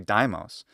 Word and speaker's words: Deimos: true of mars's moon which in english we usually call deimos i mean calling this deimos or daimos probably daimos would be the most normal english way to do it given the english great vowel shift so in short a